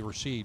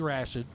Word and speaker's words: Rashid: Bobby Rashid Gross Point Woods Michigan and for eight or nine years I've been pronouncing his name wrong I've been calling Bobby Rasheed but it's Bobby Rashid in the major magics